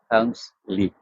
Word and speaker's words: Helmsley: I have difficulty pronouncing it every time. It's Helmsley.